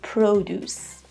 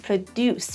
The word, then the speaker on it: produce: And produce, not produce. Produce is the verb. Here we have an uncountable noun and the pronunciation is produce.